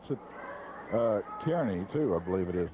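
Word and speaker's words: Kearny: pronounced I would I would pronounce it uh Kierney, too. I believe it is Nebraska. Karnney. Kernney is what I would pronounce it. But he says it's Carney back there.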